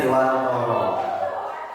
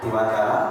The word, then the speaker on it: Dewantara: Filosofi pendidikan Hajar Dewantoro. Ada yang menyebutkan Dewantara, ada yang menyebutkan Dewantoro. Tapi yang pasti tulisannya Dewantara, bacanya adalah Dewantoro. Karena orang Jawa pasti tulisannya A tapi bacanya O.